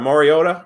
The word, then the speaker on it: Mariota: what does that put the Tennessee original aside Mariota right that's how you say his name yeah